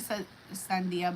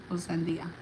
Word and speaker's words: sandía: I was thinking Sandia, but I was also in my head I was saying it wrong. I was like adding letters at the end.